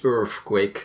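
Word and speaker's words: Earfquake: enjoyed it way it's it's spelled like that yeah earthquake not not earthquake ok earf quake so your quake I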